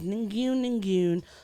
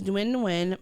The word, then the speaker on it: Nguyen: So Flaws tweeted out, yes, her name is Ningyun, my grade 6 classmate. Nguyen. Wait, what did I say? Nguyen. Nguyen. Oh, Yep, thank you. The G is silent. Her name is Nguyen, my grade 6 classmate